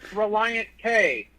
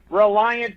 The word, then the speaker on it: Relient K: But a lot of people don't know that it's not pronounced Relient K. It's pronounced Reliant.